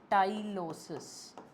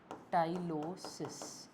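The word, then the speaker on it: tyloses: These are known as टाइलोसिस। टाइलोसिस। यह लिखा भी हुआ है यहां पे स्पेलिंग ना।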